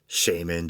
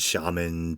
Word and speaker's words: shaman: illustrated book on shamanism Shaymin shaman tomato tomahto maybe I remember getting in an argument one time over the proper pronunciation but I remember ray manzarek from the doors used to say Shaymin so that was good enough for me and there's a